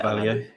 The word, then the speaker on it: Carvalho: Carvalho.